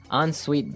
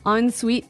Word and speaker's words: ensuite: closet, we had an ensuite bathroom. Ensuite bathroom. Ensuite bathroom, Sorry, another note on the spelling here. It's E-N right? hyphen S-U-I-T-E. So even though it's E-N, we pronounce it like an O-N.